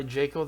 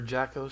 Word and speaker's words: Jaco: to want to buy Jacob the galactic patrolman or Jacko sorry the galactic patrolman I'm sorry I am so used to Western pronunciation um but uh Jacko